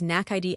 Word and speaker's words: naked: But if I say he looked naked, looked is looked verb and naked is nackid adjective.